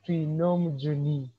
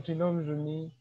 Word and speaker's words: Twinomujuni: all i would like to appreciate how you pronounce my name trinom juni so i like it the way you say it so um once again i'm tilnum juni uh a student at maker university pursuing bachelor